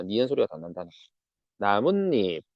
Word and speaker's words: 나뭇잎: 지물 자 니은 소리가 덧난다는 나뭇잎 나뭇잎은 문잎에서 니은 니은 소리가 덧난다라고 요걸 보여주고 있다.